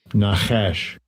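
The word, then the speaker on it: נָחָשׁ: Well, let's pronounce the word. Watch. Strong's age 5172. Nahash.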